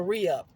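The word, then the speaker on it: ReUph: um it's a black owned business cards The Re-Up it's it's spelled r-e-h no it's spelled r e u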